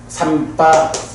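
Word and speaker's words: sampajañña: 그 삼바자나에서도 그 정지, 발음암 이럴 때는 명사로 정지할 때는 삼바잔야 이렇게 돼요.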